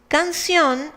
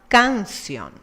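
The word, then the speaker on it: canción: should be pronounced as kansian since it ends in n and should have the intensity in the penultimate syllable but it has it in the last it is an exception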